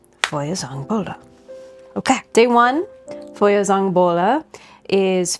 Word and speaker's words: Feuerzangenbowle: And before we move any further, I'm going to ask Google how I pronounce this. Feuerzangenbowle. Feuerzangenbowle.